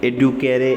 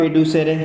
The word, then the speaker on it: educere: इसको लातीनी में एडुकेरे, इस तरह इसको क्या कहते हैं, प्रोनाउंस करते हैं। ये एक वर्ड है, इससे ये क्या हुआ है, ये डिराइव हुआ है जी, एडुकेरे।